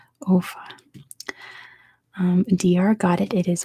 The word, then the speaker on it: Offa: Not Bofa. Offa. I assume that's how you pronounce it. Offa.